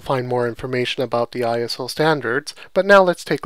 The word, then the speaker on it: ISO: more used to seeing the iso or sometimes pronounced ISO uh standard and uh